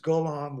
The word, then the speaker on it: Golomb: I'm very very happy to have Dr beatric Golam with me today is that how we pronounce it uh good enough beatric Golam is how I pronounce it that it's you know names are